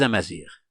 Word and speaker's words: Amazigh: Amazir, ce mot, se prononce de cette façon, on le prononce de cette façon avec l'alphabet latin. Amazir, comme vous le voyez ici, Amazir.